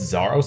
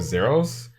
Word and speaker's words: Zaros: It's Zaros instead of Zeros, because you know, the RuneScape god.